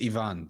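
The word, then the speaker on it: Iván: from what I found it is Ivan though because it has an accent of the eye yeah I'm sure you've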